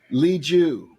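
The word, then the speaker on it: Liu: Okay, the lead actor on Shang-Chi, the Marvel movie, is pronounced Simu. It's Simu, but it's Simu. And his last name is Lee Ju. Simu and Lee Ju.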